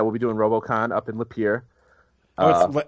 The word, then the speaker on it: Lapeer: be doing Robocon in Lapeer uh it's up here I would have pronounced it lamp e'er by the way that's